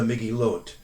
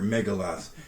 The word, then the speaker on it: Megillot: So you have the Megillot, or sometimes it's pronounced by an American reader Megaloth.